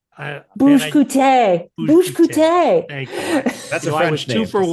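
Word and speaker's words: Olivier Bugge Coutté: Film editor Olivier Bouga-Coutier. Bouche-Coutier. Thank you. That's a French I was name. 2 for 1 on name pronunciations.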